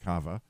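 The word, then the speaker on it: קָוָה: In Hebrew, kava is the word translated wait, which is actually Q-A-V-A, but it's pronounced kava.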